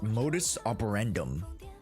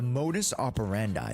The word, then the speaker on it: modus operandi: The modus operandum. I I think that's how it's pronounced. But anyways, you guys get what I mean. The modus operandi. There you go.